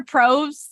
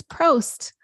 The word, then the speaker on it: Prost: I hear Probst, and I think of Jeff Probst from The Survivor. It's Prost.